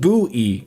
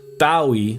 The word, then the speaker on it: Bowie: In this case, Bowie in Aen Bowie is pronounced buoy Jordan, not Bowie like David Bowie, right?